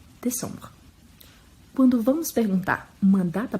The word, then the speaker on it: décembre: Décembre. O primeiro E bem pronunciado porque tem um acento. O EM que tem som de ON e o E no final que não é pronunciado. Décembre.